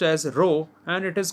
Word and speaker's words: rho: L upon a this P shaped symbol is pronounced as a row and it is called the resistivity of the